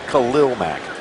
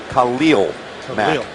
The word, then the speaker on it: Khalil Mack: Now, a lot of people say, wait a minute, pronounce his name correctly. We talked to him. He wants to be known not as Khalil Mack, Khalil Mack.